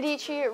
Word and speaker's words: Dietschy: Hey guys, my name is Sara Dietschy, rhymes with Dietschy.